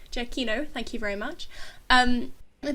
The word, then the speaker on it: Giacchino: Giacchino, thank you very much.